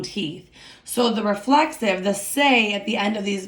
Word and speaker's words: se: So we know that reflexive verbs are easy to identify because they end in letters S-E, pronounced say, okay?